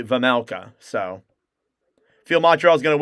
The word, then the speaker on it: Vejmelka: Just like I used to say Vejmelka, but it's actually Vamelka.